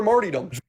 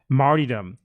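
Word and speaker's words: martyrdom: for sacrifice longing for marom okay longing for marom I've never heard anyone pronounce that word that way in my life martydom what he wants to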